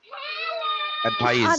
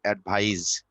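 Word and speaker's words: advise: এ ডি ভি আই এস ই, অ্যাডভাইস। আরে পেছনে কে চিল্লাইতেছে? এ ডি ভি আই এস ই, এটার উচ্চারণ হচ্ছে অ্যাডভাইস, এটা ভার্ব।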